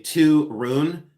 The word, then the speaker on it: Torun: This is by Georg Jensen and this is Viviana and they say Torun. So they say Torun. But it's it's spelled t o u no t o r u n.